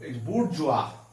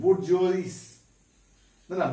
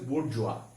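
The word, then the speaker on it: bourgeois: এরপরে খুব important word দেখো বুর্জোয়া।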